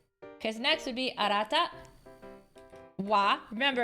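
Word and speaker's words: は: Wa. Remember, it's pronounced wa, but it's actually ha.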